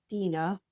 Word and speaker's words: Deanna: So this is going to be a topic of discussion for everyone, but my name is pronounced Dina. I know. It's spelled like Deanna.